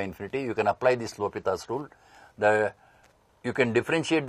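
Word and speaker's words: L'Hôpital: students read me says L hospital rule but he is a French mathematician it should be pronounced as l'hopital's rule so this is in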